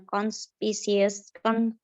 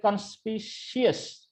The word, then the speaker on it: conspicuous: Itu, Conspirous. Rose, sir. Ya. C-U-O-U-S itu bacanya. I don't know then, sir. Way and repeatedly show differences and similarities. Itu Ini yang kan bukan conspicious. Oh, conspicuous.